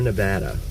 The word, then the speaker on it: Nevada: you know in a hurry that you've uh mispronounced it. Sierra, Nevada.